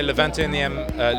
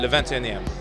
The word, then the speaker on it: Le 21ème: I say Le 21e, Le 21e.